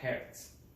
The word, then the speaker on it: Hertz: Su unidad, aquí se simboliza como Hz, se pronuncia Hertz, o que equivale a segundos a la menos 1, que es lo mismo, y tiene dos maneras de calcularse.